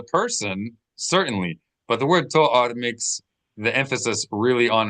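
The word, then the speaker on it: תואר: Not to force a Yafat To'or. To'ar. To'ar. To'ar. Yeah, accent that first syllable.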